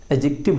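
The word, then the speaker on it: adjective: रखना, एडजेक्टिव होता है, एडजेक्टिव होता है। एडजेक्टिव डी यहाँ पे साइलेंट होता है, एडजेक्टिव यहाँ पे डी हट जाएगा तो हो जाएगा एज और फिर एक्टिव, तो एडजेक्टिव होता है।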